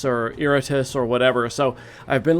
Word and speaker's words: Iratus: up, and there are there are different ways to pronounce it. There's Iratus, there is Iratus, which is perhaps how you would pronounce it if it was Latin, which it is a Latin word meaning like angry or rageful. So it might be Iratus.